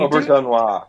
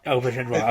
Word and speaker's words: Auberjonois: Auberjonois. Auberjonois.